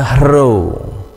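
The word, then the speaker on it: rho: dan huruf kecil nya pembacaannya hero hero Ya transliterasinya seperti huruf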